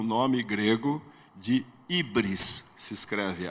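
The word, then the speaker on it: hybris: esse pecado eles davam o nome grego de ibris se escreve H Y B R S ibris O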